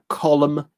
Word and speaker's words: column: The two letters I was after were M-N. Those words are solemn, column, condemn, and autumn. Imagine learning English. That's what I was talking about, Team Finland. With hidden letters there.